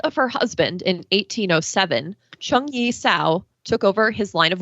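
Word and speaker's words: Zheng Yi Sao: after the death of her husband in 1807 chung yi sao took over his line of work and flourished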